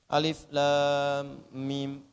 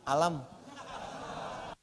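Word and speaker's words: أَلَمْ: Alif, lam, mim. Kurang sedikit harakatnya. Madnya. Alif, lam, mim. Bagus sekali. Bagus. Madnya bagus, sempurna. Cuman sayang, bacanya bukan alif, lam, mim. Alam. Maksud saya, alam nashrah laka sadrak.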